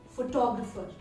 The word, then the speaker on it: photographer: Whereas if you look at the word family and you look at the next word, which is photographer, then you're putting the word stress on the second syllable, photographer. Therefore, it's important to know